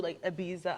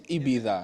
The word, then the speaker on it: Ibiza: It is Ibiza. It is Ibiza apparently. Yeah, you have to have a lisp. Yeah. Yeah, If we say it with a lisp, yeah.